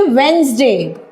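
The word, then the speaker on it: Wednesday: है बुधवार यानी कि वेनसडे इसमें बेटा डी साइलेंट रहता है यानी कि डी को बोलते वक्त हम लोग नहीं बोलते वेनसडे बोलते हैं इसको वेनसडे ठीक है अगला है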